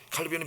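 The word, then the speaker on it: Calvin: 칼빈은 미국식 발음이고 프랑스 사람이니까 깔뱅이라는 겁니다. 깔뱅.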